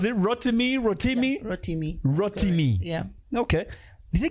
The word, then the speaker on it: Rotimi: the stage for bobby v how do you pronounce it rotten me rotimi rotimi yeah okay did they give any advice